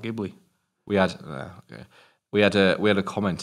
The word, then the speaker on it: Ghibli: It's apparently Ghibli, not Ghibli. We had a comment saying, "Oh, can you do more Studio Ghibli?"